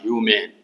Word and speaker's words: humane: इसका उच्चारण क्या होगा? तो ह्यू होया संयुक्त दुर्घु का मो में ए का न, ह्यूमेन।